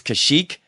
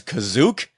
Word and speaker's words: Kashyyyk: Now, in the holiday special, one of the Imperial commanders mispronounces Kashyyyk and says Kazook.